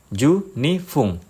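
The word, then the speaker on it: 十二分: Jadi bunyinya fung bukan pung. Ju ni fung menit ni ju ni fung dan seterusnya.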